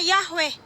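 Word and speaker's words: Yahweh: Ini ada namanya huruf palo Ibrani yod, yod, yod, he, wau, he yang dibaca atau pelafalannya Yahwe ya.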